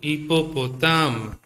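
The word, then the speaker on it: hippopotame: Hippopotam. Okay. And hippopotam. Hippopotam. po ta hippopotam. I'll spell it for you.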